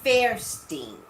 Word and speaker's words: Fairstein: pronounce her name right it's not Linda whatever it's Linda Fierstein sounds when is blowing